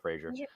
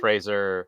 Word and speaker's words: Fraser: Fraser uh I yeah I've always had Frasier Frasier Fraser no it's free it rhymes with a razor razor razor like a zed slash